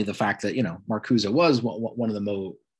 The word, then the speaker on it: Marcuse: I've heard that name pronounced many, many different ways, but the way it was always explained to me or said to me was Marcuse. Some people call him Marcus, some people call him Marcuse. As far as I know, the correct pronunciation is Marcuse, who is, of course,